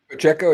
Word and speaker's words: Pacheco: Even though her losing to was it Larissa Pacheco? Is that how you pronounce her last name? Pacheco, yeah.